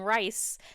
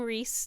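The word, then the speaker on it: Rhys: I said his name and I called him rice cuz that's how I was saying it in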